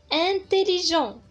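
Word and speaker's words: intelligent: انتليجون انتليجون انتليجون هي ذكي، يعني واحد الشخص ذكي. انتليجون تي هنايا حتى هي مي يعني ما كتنطقش، اما بالنسبه لهنا انتليجونت انتليجونت يعني ذكيه، يعني واحد السيده اللي ذكيه ذكيه يعني.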